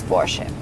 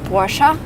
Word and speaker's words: Porsche: that relate to this Porsche. By the way, some Americans say Porsche, which I think is really wrong because the car is produced in Germany, and in German you say Porsche.